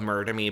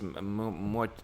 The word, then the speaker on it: Muerde: I was called Murder Me, but it's pronounced Muerde.